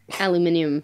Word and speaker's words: aluminium: Sharon, aluminium or aluminum? Aluminium, because of German.